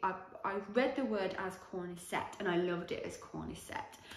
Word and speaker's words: Cornicette: So I call these the Cornicette socks because that's how I read the word. But if you're an actual Italian person who actually speaks Italian, you don't even have to be Italian to speak Italian, but if you speak Italian, you would know that it's actually pronounced Cornicette.